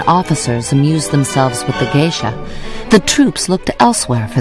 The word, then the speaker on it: geisha: any area you wanted the americans had heard the word geisha and immediately pronounced it gisha and thought that the girls they slept with in the parks were gisha girls well they were certainly